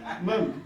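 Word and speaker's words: Mom: Mum, spelled with an O, pronounced with a U.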